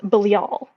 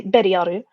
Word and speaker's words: Belial: his actual name is pronounced the the hebrew pronunciation is bilial um but nobody says it like that in japan they say belial or they say beriyaru um which is basically belial uh in the